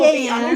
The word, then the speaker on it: Lillian: She's Well, not Lillian will be Lily-Ann.